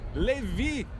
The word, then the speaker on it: Levi: Levi, em inglês, se pronuncia Levi.